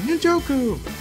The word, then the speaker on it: Njoku: Njoku!